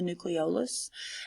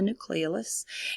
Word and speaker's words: nucleolus: you have the nucleus you'll hear this pronounced a couple of different ways sometimes you hear it called the nucleolus and sometimes you hear it called the nucleolus and it's a dark